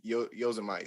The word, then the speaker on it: Yosemite: So it's spelled Yose, and you compare that to Jose, Yose, and then Mite. So Yosemite. That's that's.